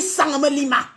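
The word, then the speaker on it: Sangmélima: Même prononcer Sanmelima te dépasse. Ah, Sanmelima. On dit Sanmelima.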